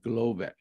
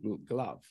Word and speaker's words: GloVe: Stanford, the second year, push out another algorithm called Glovay. Some people pronounce it Glove, right?